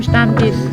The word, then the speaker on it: Stammtisch: Nimm Platz am Stammtisch. Yeah, man, say it right. Stammtisch. Sound like Stammtisch.